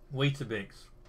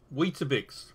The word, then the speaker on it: Weetabix: So is it pronounced Weet-Bix or Weetabix? Weetabix. Weetabix.